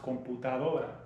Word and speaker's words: computadora: If we phonetically pronounce it in English, computadora. Sounds like computer, looks like computer. We mash it up. In Spanish, it's pronounced computadora.